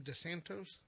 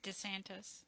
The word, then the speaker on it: DeSantis: DeSantos? I wonder if we write DeSantos. DeSantis. Is it? That's how you pronounce it? DeSantis, yeah.